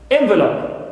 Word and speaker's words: envelope: envelope envelope so here for the noun what it is stressed on the first syllable and starts with a right if you change the stress position from the first syllable to second one in the becomes ver becomes stressed and also i would use the first vowel in its ad to become short e envelope so here i get